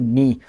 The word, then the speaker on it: knee: always in your mind if a world begin with K in your world silent if for example we have knee so we cannot pronounce it we do not pronounce it we cannot say kini foreign foreign while our